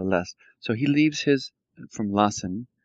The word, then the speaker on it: lässt: Yeah, and this L-A with umlaut is pronounced like lest, Sutter lest.